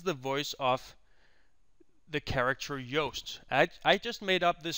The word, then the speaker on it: Yoast: And here we just say that, yep, we identify that this specific piece of subtitle is spoken by Yoast. That is how you pronounce this.